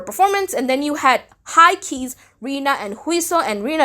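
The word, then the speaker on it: H1-KEY: that the name of the group is high key not H1 key I've been pronouncing it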